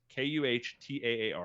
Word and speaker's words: Qatar: And apparently there's two traditional ways to pronounce it: an English and an American and a British. The English way or the American way is Kuhtaar.